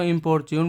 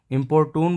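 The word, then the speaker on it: importune: इसको कई तरीके से प्रोनाउंस करते हैं। ब्रिटिश इंग्लिश में इसको इम्पोर्ट्यून बोलते हैं, अमेरिकन इंग्लिश में इसको इम्पोर्टून बोलते हैं, और यूरोप में इसको इम्पोर्टूने बोला जाता है।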